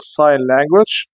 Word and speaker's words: sign language: لغة الإشارة خلي بالك هنا جي silent، تكتب ولا تنطق، sign language، sign language.